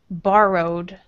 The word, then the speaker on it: borrowed: And let's say borrowed. Borrowed. Borrowed. Borrowed. Say row. Row. Borrowed. Borrowed. Uh-huh. And say the first syllable, bar. Bar. Borrow. Borrow. Uh-huh. And past tense, borrowed.